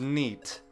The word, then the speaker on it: NΣΣT: For 4+ years now, the legendary senpai, known as NEAT. That is how you pronounce that.